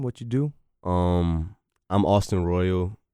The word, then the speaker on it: Royale: I'm Austin Royale. It's spelled like Royale, but I'm Austin Royale.